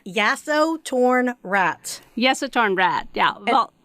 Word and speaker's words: Yasotornrat: because i i want to make sure i pronounce right oh no you're fine it's yaso torn rat yes it turned rad yeah well and don't